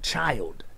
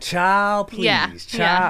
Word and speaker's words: Chiiild: spell it c-h-i-i-i-l-d mm-hmm you're supposed to put like um some emphasis on it yeah yeah like child i think that's what it is child yeah exactly so i